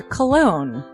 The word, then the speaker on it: Colon: It is a self-published book by Christopher Cologne. Chris Cologne smells good to me. But Look at her. That broke that fucking cold little exterior. He's like, hee. But it is spelled Colon.